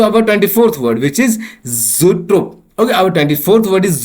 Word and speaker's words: zoetrope: Now let's move to आवर 24th word, which is ज़ूट्रोप। Okay, our 24th word is ज़ूट्रोप, जिसका spelling है ZOETROPE, ZOETROPE, ज़ूट्रोप, और इसका हिंदी में मतलब हो गया दृश्य भ्रम यंत्र।